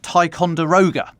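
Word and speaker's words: Ticonderoga: Thanks to Colleen pronounced Tyonderoga, which I didn't know.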